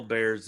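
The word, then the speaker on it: Bexar: you know like a b-e-x-a-r that's my county yeah if you if you're from bear county but everyone i mean everyone asks that they're like bear how do you spell that i'm like like the bear not like the paint company right b e h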